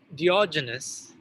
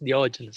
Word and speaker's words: Diogenes: When the famous Diogenes, Greek philosopher, I don't know if you pronounce it like that in English, Diogenes.